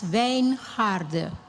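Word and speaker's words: Wijngaarden: My name my name is pronounced as Vain Harder.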